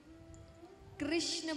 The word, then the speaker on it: कृष्ण: नाम रखा गया कृष्ण कृष्ण बोलते हैं तो जीव घूमती है बोलिए कृष्ण भूमि जी सही तरीके से आप यह नाम का उच्चारण करते हैं तो जीव घूमती है यानी टेढ़ी होती है तो इसीलिए भगवान का